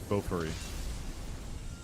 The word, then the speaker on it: Bofuri: The the one that I really like is um I think it's a sword art spin-off which is Bofuri and I Bo B I don't want to say it like a weeb.